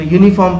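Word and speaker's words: uniform: हम जब इसको इसका प्रोनाउंसिएट करेंगे इनको, तो इसको यूनिवर्सिटी पढ़ेंगे, इसको यूनिफॉर्म पढ़ेंगे, और इसको 1 रुपी नोट पढ़ेंगे। आप देखिए स्टार्ट हो रहा है हमारा लेटर जो है वो वॉवेल है, लेकिन यहाँ पर प्रोनाउंसिएशन में हमें कॉन्सोनेंट साउंड मिल रहा है। तो हमें ऐसे लोगों से ऐसे वर्ड से सावधान रहना है।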